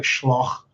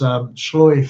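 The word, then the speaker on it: sluagh: It looks like Schloch, but it's Shloy Fay, or Shloy Shay, sorry.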